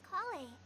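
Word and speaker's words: Collei: My name is Kale. I'm a trainee forest Kale, ranger. that's how you My pronounce it.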